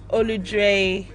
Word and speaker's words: Oludre: If you want to check it out, it's Oludre Coming Through, and that's spelled OLUDRE, Olu and Dre.